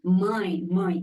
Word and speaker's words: mãe: It's M-A-E, my. Like in English, we pronounce my, M-Y. Yeah, mãe. Yeah, the sound is mãe.